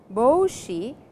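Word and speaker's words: ぼうし: We have boshi over here, and the pronunciation is boshi, which is a long O sound, means a cap.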